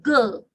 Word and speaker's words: girl: is not coming here it's ghost it's not gur it's girl okay the fourth is a miracle and it's